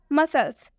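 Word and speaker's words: muscle: मसल्स, मसल्स में भी एस के बाद से सी आया हुआ है, जैसा कि रूल में आपको स्पष्ट बताया गया है कि एस के बाद से सी आए तो सी साइलेंट होता है। देख सकते हैं आप, एस के बाद से सी आया हुआ है तो सी साइलेंट होगा।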